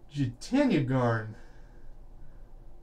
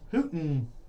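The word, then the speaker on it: Jutanugarn: And I'm told that the young lady's name is pronounced. Is that correct? Hootengarten. Is apparently the pronunciation of the young lady's name there on the LPGA shirt card.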